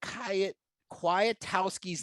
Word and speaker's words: Kwiatkowski: this as well jake kya kuatowski's name has a silent k that's right that second k is silent which led me to